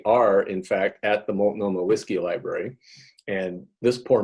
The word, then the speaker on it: Multnomah: So how's it pronounced? Multnomah? Yes, Multnomah.